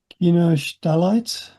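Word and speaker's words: Kinoshitalite: Coazulite, Gimuraite, Kinichilite, Kinostalite, not pronounced how you think it might be pronounced. In Japanese, the Japanese language is monosyllabic, monosyllabic, I think, where each syllable takes up the same amount of time. So ki, n, o, shi, ta, li, or li.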